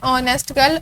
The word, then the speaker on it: honest: तो देखा जाए एच हमारे पास साइलेंट साउंड है, प्रोनाउंस नहीं होगा, तो हम इसे पढ़ेंगे ऑनेस्ट गर्ल, और वो हमारे पास